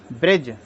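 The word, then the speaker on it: bridge: अगला है आपका D silent D silent D silent इसको हम देखते हैं जज ईडी जीई जज किनारा ब्रिज बी आर बी आर आई डी जी इसको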